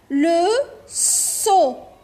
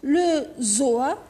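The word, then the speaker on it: le seau: لو سو، لو سو اللي هو الدلو. لو سو ما قلتش لو زو، لو سو.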